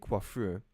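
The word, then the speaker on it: coiffure: The delicate quaffur. Yeah, that's how you say it. The delicate quaffer at the top of Liberty's head required many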